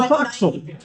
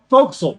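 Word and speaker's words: forecastle: Yeah, look at the foxel. Fauxil. Sorry. Thank you. Also spelled for castle. Yes, for all of those of you who have read naval books and never heard them pronounced, these words are freaking weird.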